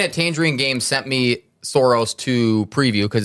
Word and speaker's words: Sauros: I was pronouncing it Sauros. So S-A-U... Dinosauros. R-O-S. Yeah. Yeah. Soros. I like that. Dinosaur-themed Sauros.